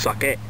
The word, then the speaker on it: sake: This time around we're going to be doing some sake, or as it's actually pronounced, sake.